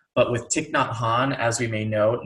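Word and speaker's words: Thích Nhất Hạnh: Vietnamese names but with tick not Han as we may know notice the H is silent after the T so both of these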